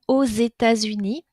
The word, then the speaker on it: aux États-Unis: Pays-Bas a u X vous avez entendu la prononciation aux États-Unis pas très facile à prononcer nous avons deux liaisons avec le X qui fait une liaison en Z aux États-Unis d'accord dernière situation avec